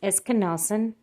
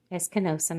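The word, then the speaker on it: ἐσκήνωσεν: It's pronounced esenosen. Eskenosen, I'm sorry.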